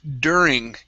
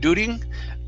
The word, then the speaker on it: during: go to the word during give me a good r sound here instead of dooting dir during dooting almost push the tongue down dur during during okay almost there